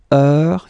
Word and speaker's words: heure: All right, so heure, you write it like that. Remember, H is not pronounced, okay? So it goes like heure.